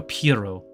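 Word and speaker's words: Pierrot: it's pronounced the studio Pirro because the t is silent I found your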